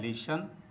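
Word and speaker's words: listen: तो दोस्तों यहांकि T silent है तो यहां इ एन को अन पढ़ा जाता है।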